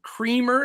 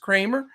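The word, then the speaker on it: Kremer: jays c 7.3 k and dean kramer or creamer it looks like but it's pronounced kramer it's 6.2 k for the orioles all right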